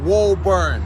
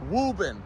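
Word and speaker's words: Woburn: the top right there it is not pronounced wo bur not wo bur wurn it's wubben that one right there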